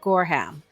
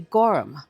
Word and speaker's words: Gorham: Recently, I found a piece of silver and I pronounced it Gorham and a wonderful subscriber taught me that no, the H is silent so it'd be Gorham.